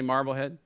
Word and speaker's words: Marblehead: Rich, how do you say Marblehead?